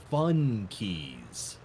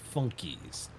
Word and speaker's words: Funkeys: I don't know if you'll even know what it is, but there were these things called fun keys, pronounced funkies, Funkeys.